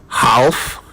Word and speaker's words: half: Did you say half? Well, it's actually half. The L is silent.